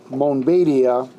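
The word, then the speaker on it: Montbéliard: The Mennonite congregation of Montbeliard, which in French is pronounced Montbeliard, had its beginnings shortly after the Almond Schism.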